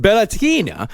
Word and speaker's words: Beltane: It's Beltane, that's spelled Beltane, but it's pronounced Beltane, on the eve of